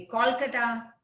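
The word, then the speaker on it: Kolkata: तो वैसे कैलकाटा बोलते थे पहले, सी होता था, CALCUTTA, अब आ गया कोलकाता, क्योंकि वहां का ये प्रोनाउंसिएशन है।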